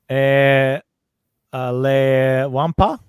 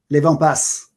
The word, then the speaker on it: Les Wampas: Les Wampas. Les Wampas. Wampas. Okay. Yeah. You pronounce S at the end? This one you do. Oh, okay. Normally we don't, but this word, yeah, we do.